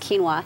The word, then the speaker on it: quinoa: it on the box it's not phonetically correct but it's pronounced quinoa and you said there's